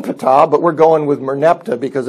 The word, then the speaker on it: Merneptah: of the Pharaoh be because it's so difficult to pronounce they switch the letters around and is he's typically known as Merneptah but his name is Moran Fattah but we're going with Merneptah because it's easier to